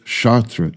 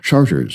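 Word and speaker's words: Chartres: Ask a local which way is Chartra Street, and you'll be given helpful and polite directions to Charters Street instead.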